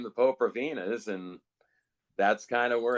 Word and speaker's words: Popravinas: in their name, but it could be pronounced Popravinas or Popravinas, but the way it was initially described to me was Popravinas.